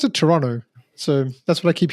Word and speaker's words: Toronto: think the pronounce it Toronto so that's what I keep hearing but from Canadians you pronounce it Toronto without the T but hey man we're